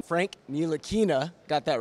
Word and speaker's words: Ntilikina: Frank thank you so much we got the pronunciation Frank Neil Aina got that right and uh we are looking